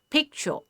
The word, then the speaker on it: picture: For example, picture. Pick is one syllable, cho is the second syllable. It has two syllables in it, right? And the first part of the syllable is stressed here.